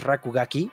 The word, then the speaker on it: RKGK: so what is RK GK rkgk or it's pronounced as rakugaki is a 3D action platformer you play as